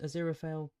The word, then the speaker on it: Aziraphale: Oh, I pronounced Aziraphale perfectly.